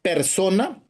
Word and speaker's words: personae: romano la palabra jurídica persona que es tan propia del Derecho civil persona se deriva de lín personae se pronuncia person pero se se escribe personae personae en la antigua